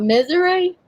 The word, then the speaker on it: Missouri: what I do think do they sometimes call it misery Wow yeah it's called Missouri is what they actually call depending on where you put the syllable where ever you put the accent on the syllable the cream is three